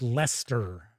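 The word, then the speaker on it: Leicester: So, Simon York says, "If you care for British town pronunciations, it should sound like Lester."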